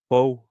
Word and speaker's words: four: Foe, not four. Foe. That's how they say it.